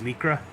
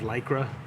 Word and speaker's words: Lycra: it as lycra, because that's the pronunciation of the ly. It's a long E sound. So it was just really funny listening to her sometimes say the word lycra.